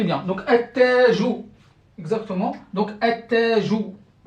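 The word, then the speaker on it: التاج: A, ta, jou. Donc, ça, c'est tajoun. Tajoun. Vous voyez ici, regardez, combien de ta j'ai ici? Un seul. Alors que là, j'ai deux. Pourquoi? C'est à cause de la shadda.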